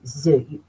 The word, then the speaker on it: œufs: But when it becomes plural, you don't pronounce the F. You say des œufs. Des œufs. You take over the S of the D. Des œufs.